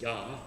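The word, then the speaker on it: ja: in german yes is yah it's spelled j a the j is pronounced as a y so it's a it's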